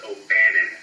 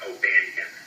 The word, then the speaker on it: O'Bannon: Hey, Mike, before I get to my Yankee point, I'm pretty sure it's pronounced O'Bannon, not O'Banion.